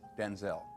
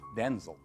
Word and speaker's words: Denzel: wait a minute because my name's not pronounced Denzel. My name's pronounced Denzel. Oh, I'm Denel Jr. My father's Denel Senior. I'm Denzel Jr. My mother would say Denel and we both show up. So she said from now on you're Denzel. Well that's how it got pronounced Denzel.